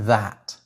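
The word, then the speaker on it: þæt: No, I mean literally, it's pronounced like that.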